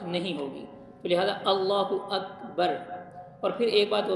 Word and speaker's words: اکبر: کو لمبا نہیں کرنا۔ اللہ اکبار اگر پڑھیں گے تو نماز نہیں ہوگی، کیونکہ وہ اس کے معنی بالکل چینج ہو کر تبدیل ہو کے رہ جاتے ہیں، تو اس لیے اس کا درست تلفظ ہے اللہ اکبر۔ اگر آپ نے اکبار